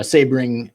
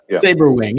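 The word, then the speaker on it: Sabrewing: about the remote cargo sabering. I think is that how you say it? Sabering, right? Saberwing, yeah. Saberwing, of course.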